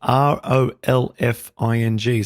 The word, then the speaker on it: Rolfing: So it's spelled Rolfing. So it's like golfing, but with an R.